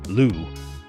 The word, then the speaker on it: Loup: And we'll round out the bullpen with Aaron Loup, a solid lefty reliever whose surname is the French word for wolf, Loup, but pronouncing the hell out of that silent P.